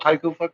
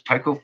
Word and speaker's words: Tycho: videos i made about taiko crater you know say it like that every time it's tyco crater